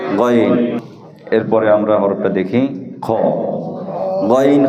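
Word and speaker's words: خ: এরপরে আমরা হরফটা দেখি খ গইন খ গইনের সাথে জোড়া এই হরফটি হলকের শেষ ভাগ হতে এই খ হরফটি মোটা হবে খ হরফটি কি হবে আমরা এইভাবে উচ্চারণ করব খ খ খ খ জবর খ খ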